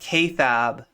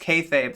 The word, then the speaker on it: kayfabe: Um when when Dylan Burns wanted to do like, you know, was trying to do like wrestling stuff with me, I said kayab, right?